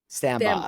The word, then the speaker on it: Stambaugh: last name I don't want to M up sambba okay I was gonna say it like that